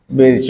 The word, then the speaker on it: Birch: देखिए, pronunciation बर्च कहते हैं, लिखा जाता है बिर्च। बर्च लिख देंगे तो BURCH हो जाएगा।